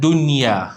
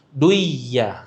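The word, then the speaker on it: دنيا: Contoh dia perkataan dunya. Tak boleh hilangkan nun tu. Duya tak boleh sebut dunya.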